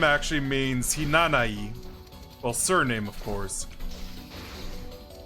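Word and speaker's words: Hinanawi: in you with a lot of japanese words is silent so basically her name actually means hinanai well surname of course that's what i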